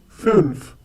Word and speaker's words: fünf: Fünf. Once again, fünf. The two dots that you find on U are known as umlaut. You will pick up the pronunciation with a few more words that we will come